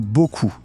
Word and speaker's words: beaucoup: Le mot beaucoup, le p final, pareil, muet.